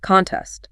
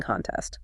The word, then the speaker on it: contest: Contest stress on con. She won the spelling contest. Simple, front-loaded, clear. But the verb form, contest, means to challenge or dispute a decision. The stress is on test.